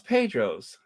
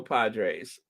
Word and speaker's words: Padres: Say it like San Diego Padres.